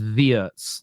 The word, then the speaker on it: Wirtz: It is Wirtz, like the V.